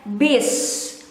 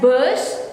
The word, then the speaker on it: bus: we read it as biz but some people might pronounce it as buzz or in between e and o bish bish bus bis